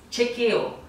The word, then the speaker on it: chequeo: se diz chequeo tá E é muito importante você pronunciar corretamente a ch porque ele não tem som de Xi como a gente faz no Brasil el tem som de ti como se fosse uma T Tá bem então você